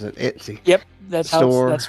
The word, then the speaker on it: Etsy: Etsy? That's how Jaws says it. Etsy.